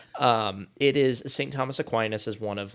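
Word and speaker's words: Aquinas: a team, and I need your help on pronunciation for this, St. Thomas Aquinus. Close. It's St. Thomas Aquinus, but but we're we're close.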